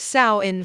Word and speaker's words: Samhain: In Celtic tradition, Samhain, pronounced Samhain, fires marked the end of the harvest season and the beginning of winter, the darker half of the year.